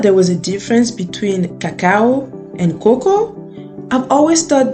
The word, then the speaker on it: cacao: Did you know that there was a difference between cacao and cocoa? I've always thought that cacao was basically the translation of cocoa in French, which is pronounced cacao.